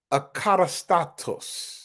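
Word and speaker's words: ἀκατάστατος: It's pronounced akatastatos.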